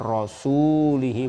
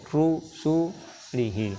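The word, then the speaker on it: رُسُلِهِ: Jadi ini bukan rasulihi, bukan, tapi rusulihi, rasulnya.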